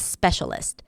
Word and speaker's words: specialist: So, that's a specialist. Spist. Stress is on the first syllable. Specialist.